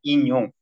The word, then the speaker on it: 인용: 가장 유명한라고 하는데요 자은 인용입니다 인용 인형이 아니고 인용 자 이응이 두 번서 발음이 어렵죠 인용입니다 인용 자 가장 유명한